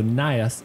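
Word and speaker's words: Najas: So the J would be a Y sound, so Nias is correct.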